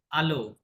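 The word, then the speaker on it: allô: শুনি আপনারা রিপিট করেন শব্দগুলা কি বলছে আলো আমরা ইংরেজিতে বলি কি হ্যালো তাই না ফরাসি ভাষায় এইচ এর কোন যেহেতু সাইলেন্ট বলতে কোন শব্দ নাই এজন্য ওরা হ্যালো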